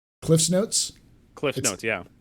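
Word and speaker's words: CliffsNotes: You know all about Cliff Notes, Paul, right? Cliff's Notes. Cliff Notes, yeah. It's called Cliff's Notes. It's not Cliff Notes.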